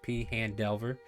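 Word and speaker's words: Phandelver: the lost minds of p han delver that's how it's said now because kobo chella has made it confirmed uh join us for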